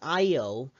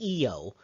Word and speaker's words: Io: the moon eo now i actually learned to pronounce this io uh uh but really it's pronounced eo uh so uh i tried to say it